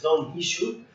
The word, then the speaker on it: Don Quixote: He just made his famous novel about Don Quixote or Don Quixote, according to the pronunciation of the Spanish, it's Don Quixote.